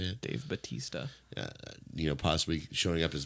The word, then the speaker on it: Bautista: But I saw that Dave Bautista. Is that how you say it? Dave Bautista.